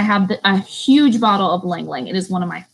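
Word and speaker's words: Ylang Ylang: Our last and definitely not least, because this oil, it's amazing, is Lang Lang. It is spelled Y-L-A-N-G. Y-L-A-N-G. It's 2 words.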